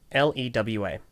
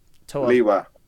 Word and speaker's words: Lewa: How do you pronounce LEWA? So, Liwa. Oh, thank goodness. Ugh. That warms my heart. I've had many a conversation with many a person who have said it is either Lewa or Lua.